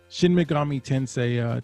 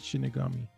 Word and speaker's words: Shin Megami Tensei: Shin Megami Tensei type of game. That's what I said. Was it? You said Shinigami.